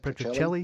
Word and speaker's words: Petrocelli: Petrocelli.